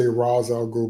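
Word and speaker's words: Ra's al Ghul: I think uh if you mean his training that he got from Raal Ghoul or as they say Razal Ghoul but that's not how you say it in Batman Begins.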